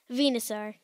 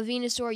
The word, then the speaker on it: Venusaur: The Pokemon we are discussing today is third in the Pokedex, Venusaur. It's spelled V-E-N-U-S-A-U-R and pronounced V-N-A-S-A-U-R.